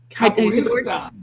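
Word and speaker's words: capoeira: a little bit about later um he's also capesta how do you say thata capista capista okay but it's a cool martial art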